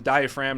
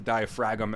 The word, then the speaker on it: diaphragm: It's called the diaphragm, not the diaphragm as it's spelled, as at least you want to say.